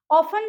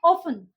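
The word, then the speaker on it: often: ऑफन जो word है, देखिए इसको कई लोग प्रोनाउंस करते हैं ऑफ्टन, कई इसको प्रोनाउंस करते हैं ऑफन, लेकिन इसका एक्चुअल में इंडिया में ब्रिटिश लैंग्वेज के हिसाब से हम ऑफन ही यूज करेंगे इसको।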